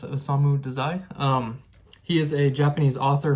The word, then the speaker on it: Osamu Dazai: That's how you pronounce it, Osamu Dazai.